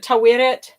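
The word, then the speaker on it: Taweret: Because Oscar Isaac said it Tawiret. I think he was giving it a little bit of a British pronunciation. Of course, I have to caveat that and say we don't know with 100% certainty how the ancient Egyptians said it, but my guess is Tawiret.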